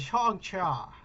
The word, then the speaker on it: Shang-Chi: Kevin Feige himself has been on interviews, and he has said the proper way to fucking say this is Shang-Chi.